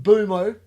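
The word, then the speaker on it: Mbeumo: We want your insight on the signings of Brian and Bumo.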